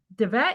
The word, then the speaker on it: Dvet: start with uh Dvet. Is it pronounced Dvet? Okay. You have to unmute. Sorry. I thought I had unmuted. Okay. So, and you did pronounce my last name correctly.